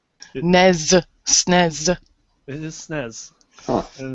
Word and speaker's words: SNES: Is it NES and SNES? NES, SNES.